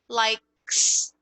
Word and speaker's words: likes: Repare que esse S ele não adiciona uma sílaba nova, não é likes. Like, likes. O som é junto.